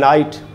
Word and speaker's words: night: ये जो word है night, जिसका मतलब होता है रात। तो अगर आप देख रहे हैं NI और T, इतने का उच्चारण करते हैं हम, night, जी एच का तो उच्चारण नहीं होता।